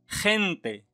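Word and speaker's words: gente: هذا الحرف يمكن أن ننطقه خ، وكذلك يمكن أن ننطقه غ. ننطقه خ إذا جاء بعده أ أو إي. أعيد، ننطقه خ إذا جاء بعده أ أو إي. مثلا خنتي، خنتي الناس، خنتي. كذلك خيرار، خيرار انعطف، خيرار انعطف. كما لاحظتم ننطقه خ.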